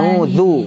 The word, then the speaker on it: A'udzu: A'udzu. Du monyongkan. A'udzu. Jelaskan dhammahnya. A'udzu billahi minasy syaithanir rajim.